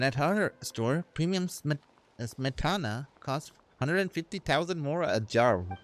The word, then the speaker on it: smetana: How do you pronounce that? Okay, let me take a look. Smetana.